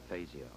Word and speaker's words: Fazio: spell it right but he thinks Fazio is correct we're on the Motor City over the years in Detroit most of his friends actually called him Fazio that's the pronunciation we'll try to stick to so at the